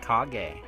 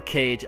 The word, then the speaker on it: Kage: Kage. I said it right. I think. Or Cage. I don't give a fuck. Legend of Cage. This game's pretty cool.